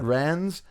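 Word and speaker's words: Rennes: Rens, Chelsea, Real Madrid, Bayern Munich, and Tottenham Hotspur.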